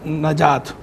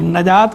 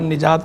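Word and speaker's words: نجات: का माना होता है नजात ठीक है नजात का लफ जो है ये नून के जबर के साथ है लोग गलत तौर पर नून के जेर के साथ निजात निजात कहते रहते हैं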